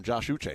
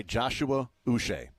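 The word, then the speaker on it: Joshua Uche: was uch the whole time I called him Josh uch so I was I was wrong on both yeah you're the you're the problem I know right uh but he wants to go by Joshua us so those in Kansas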